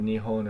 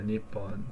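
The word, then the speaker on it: 日本: into now but it's that P turned into um H at some point in the history of the language which is why it can either be said Nihon or Nippon because there's kind of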